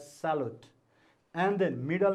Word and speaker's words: Charlotte: And his mother's name, okay, spelling C-H-A-R, then L-O-T-T-E, Salot. Okay, you have to pronounce as Salot.